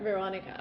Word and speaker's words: Veronica: Is the right way to pronounce it in Veronica. English? Veronica. Okay, so Oh. she's a Russian speaker, but so her name is adapted to English.